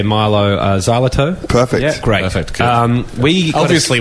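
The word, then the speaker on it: Mylo Xyloto: congratulations on the album um I hope I'm pronouncing it correctly when I say Milo zal perfect great um we obviously we know what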